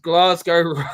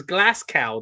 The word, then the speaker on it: Glasgow: so yeah really good he pronounced glasgo right who did was that uh Michael Co because he usually says glass cow doesn't he I guess